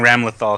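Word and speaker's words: Ramlethal: that this is pronounced ramal uh yeah I'm saying Ram lethal because it's like it's it's like lethal Ram lethal that's what I'm saying her name is Ram lethal Ram lethal no if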